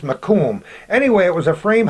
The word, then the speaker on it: Macomb: headquarters as we're told it's called mur is pronounced Macomb anyway it was a frame house facing Bridge